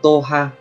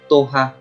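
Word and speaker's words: 党派: Cách đọc của nó là toha, toha.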